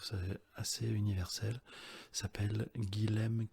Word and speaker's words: Guilhem: Il s'appelle Guilhem Kézak. Guilhem, je suis plus sûr de comment ça s'écrit, on va dire G-U-I-L-H-E-M, Kézak, C-A-Y-Z-A-C.